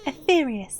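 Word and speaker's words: Etheirys: to Bear the people of aus to safety etherious that's how you pronounce it our time has come my friends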